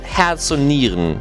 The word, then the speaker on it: Herz und Nieren: prove a system on Herz und Nieren. Okay, my German sounds a little bit more English than it should be. To say it right in German, it's called Herz und Nieren.